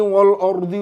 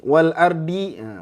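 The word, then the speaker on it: والأرض: apa tadi ha ya Nah banyak yang bacanya tebal di sini Wal ardhi Wal ardhi nah hati-hati Wal ardhi Inna Fi khalqissamawati Wal ardhi di tebal jangan di di Wal Ardi Wal Ardi gitu ya paham innai khq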